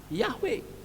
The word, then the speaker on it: Yahweh: demikian kita tahu bahwa penulisan yang benar dan pengucapan yang benar adalah ia W seperti tadi seorang perempuan yang ada Rin bahasa Ibrani dia menyebut nama Yahweh Saudara bukan adonai tanashin memang untuk menghindari